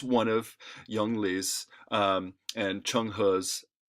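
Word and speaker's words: Zheng He: was a guy named Chun Ha. No, I know that's spelled what you wouldn't expect it to sound like, Chun Ha, but that's Chun Ha, who was a Muslim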